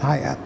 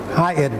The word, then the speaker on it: Hyatt: no tired no not higher high hotel okay high at the stress is on the tee not on the a okay that's why you